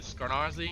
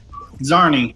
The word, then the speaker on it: Zarni: You said Skarnarzi? Is that how you say it? Zarni. Zarni. That S Zarni. is silent.